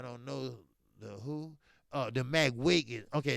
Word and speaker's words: McGuigan: The McWigan. Okay, it's spelled McGuigan. Right.